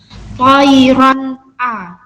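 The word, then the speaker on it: طَيْرًا: Toiron a, tidak boleh didengungkan toiron a. Toiron a, salah. Harus dibaca jelas satu ketukan.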